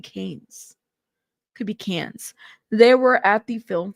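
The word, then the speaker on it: Cannes: Um, it's in France. It's Cans just like Cams.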